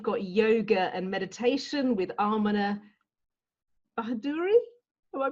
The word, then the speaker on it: Ameneh Bahadouri: So today we've got yoga and meditation with Ameneh Bahadouri. Am I pronouncing that correctly?